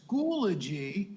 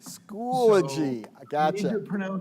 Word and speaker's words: Schoology: on the pronunciation because it is schoology schoology a school a schoology like a eulogy but school age we'll get you there